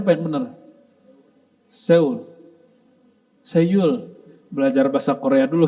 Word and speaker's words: Seoul: Bacanya apa yang benar? Seoul.